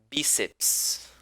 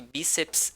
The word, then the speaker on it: bíceps: plural a túnel prótons bíceps atenção que bíceps é uma palavra paroxítona ok bíceps você não pode separar em bears e porque toda sílaba tem que conter uma vogal ok bíceps ok pessoal